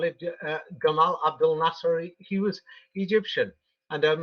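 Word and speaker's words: Gamal Abdel Nasser: um a man called Jamal Abdul Nasser but I will use the egyp Egyptian pronunciation because he was Egyptian and um the Arab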